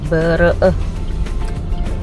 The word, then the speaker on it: Bereh: Kalau di Aceh itu pengucapannya tuh tulisannya bere eh. Bereh ya.